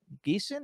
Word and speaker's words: Geeson: it stars, among others, besides Adam Jacobs, Judy Geeson. Is that how you pronounce her last name?